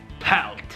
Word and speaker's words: palt: Palt. Palt. Peelt. Palt. Either way, it's pronounced palt in Swedish.